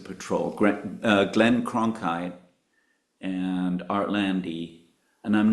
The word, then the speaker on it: Lande: Art Lande. Yeah, Landy.